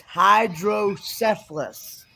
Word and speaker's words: hydrocephalus: called it's called Hydro it's hydrocephalus hydrocephalus cephalus not syphilis as some people might get the mistake it's hydrocephalus yeah I see what